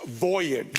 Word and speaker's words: voyage: journey by ship uh the accents on the first syllable it's Voyage yes that was good